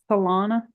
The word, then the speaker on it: Solana Beach: Solana?